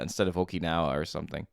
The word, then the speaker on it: Okinawa: you know clicking how many times I say okanawa instead of Okinawa or something right there's always one of those